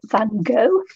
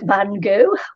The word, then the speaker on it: Gogh: So this week we're doing inspired by Van Gogh, Vincent van Gogh, or Gough, or Gogh. However you like to pronounce his name, Van Gogh, I like to call him.